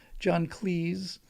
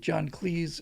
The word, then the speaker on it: John Cleese: John Cleese, you better pronounce it to rhyme with sneeze or he'll reprimand you,